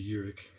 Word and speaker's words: Urich: It's really Urich, but nobody said it right my whole life.